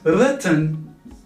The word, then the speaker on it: written: And written in the past participle. It's an irregular verbs. Written, not written. Many people spell it as rai, noi. written. So this I here is silent.